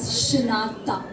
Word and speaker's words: Shinatha: It is pronounced as Shinatha.